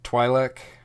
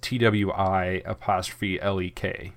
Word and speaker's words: Twi'lek: I've always pronounced it Twi'lek with a Y sound. This is what Orn Frita says, is Twi'lek. Everyone else in this episode pronounces it the other way, which is Twi'lek.